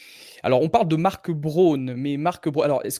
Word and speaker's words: Braun: La prononciation correcte, c'est comme pour les rasoirs, c'est Braun.